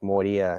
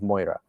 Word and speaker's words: Moria: for your theory, you should probably pronounce it like Moria instead of Moira, right?